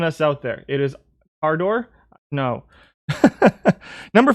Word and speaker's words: Cadore: Pronounced Cador.